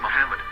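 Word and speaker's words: מחמד: noe after the age according to Ben yehuda's hebrew english dictionary it is correctly pronounced as mohammed not Manhattan so how we're going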